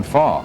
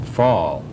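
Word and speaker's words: Pfahl: And that element is also present in the work of this photographer, John Fall. That's spelled P-F with a P in the German sense, P-F-A-H-L.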